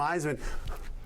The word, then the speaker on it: Iseman: she said my name isan there it is hear that you can't say your last name I said you pronounce it like the Heisman Trophy and so she went